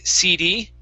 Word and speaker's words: CD: The difference, though, is that we say city. Okay, Fuang. So the other one would be CD, and the stress would go on D. So I say, yeah, pass me that CD. Okay, so that D is receiving the stress.